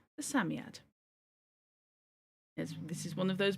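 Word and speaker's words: Psammead: Samiad is pronounced Samiad.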